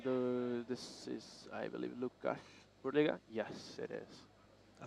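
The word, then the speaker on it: Łukasz: this is I believe lucash BGA yes it is I think it's wush oh it's like pronounced the L with the dash it's like almost like a w oh yeah yeah that's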